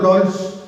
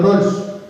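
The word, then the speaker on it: Rawls: definición de John Rolls Rolls ahora que tenga posibilidad de escribirle en sus celulares John Rose se escribe r a w l s John Rolls la definición del pan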